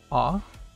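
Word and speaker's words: あ: the letter a in the middle which is ah next we have the super easy one which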